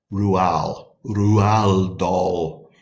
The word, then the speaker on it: Roald Dahl: the author we are studying is Roald Dahl pronounced rural rule of Dahl okay so let's read a little bit about